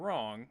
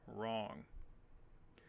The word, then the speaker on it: wrong: forget the silent letters now in the word snowing and wrong the W will be silent here are some other